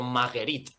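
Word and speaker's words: Magerit: Sí, es como, bueno, de hecho ellos lo conocían no como Madrid, sino perdón, como recopilamos un día, como Mairit o Maguerit, que es como lo pronunciaban ellos.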